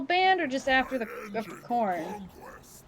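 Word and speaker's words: Khorne: why is corn called corn it's spelled k h o r n e just so you know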